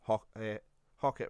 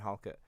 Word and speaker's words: Halkett: All the Livingston fans got annoyed at me because I used to call him Hockett rather than Halkett. He's got an L in it, which I forgot, and I will spell it wrong on Twitter as well.